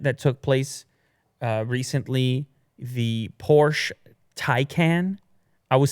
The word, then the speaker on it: Porsche: Anyhow, from this moment forward in this video, I will no longer say Porsche. I will say Porsche, because that's the way. That's just one syllable, so you save a syllable.